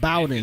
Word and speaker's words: Bowdon: Okay, I was pronouncing it wrong. It's pronounced Bowden.